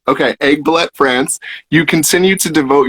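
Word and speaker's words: Aiguebelette: hard i looked everywhere how do you pronounce it egg ballet okay egg ballet france you continue to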